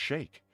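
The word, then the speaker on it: Sikh: Chic is pronounced shake.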